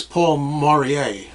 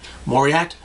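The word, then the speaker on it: Paul Mauriat: pull I don't exactly I always pronounce this Paul maurier isn't the T silent Paul maurier Mari morier moriat and his orchestra they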